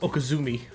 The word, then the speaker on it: Okizeme: doing nothing and blocking okezame pronounced okazumi often shortened to Okie